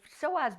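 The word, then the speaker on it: psoas: It's the SOAZ muscle, spelled P S O A S.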